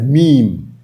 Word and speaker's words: meme: that sh can we meme using your image the spelling of the word is m e m e it's pronounced as meem m e e m but the spelling is